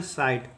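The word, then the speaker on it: site: उच्चारण नहीं होता है जैसे देखिए इस का उच्चारण होगा स आई का उच्चारण होता है आई तो ये हो जाएगा साई टी का होगा उच्चारण ट तो इसको पढ़ेंगे साइट इसको पढ़ेंगे साइट उसी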